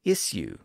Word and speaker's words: issue: an sh sound and some of you say isue with an S sound especially if you're in Britain most Americans say immediately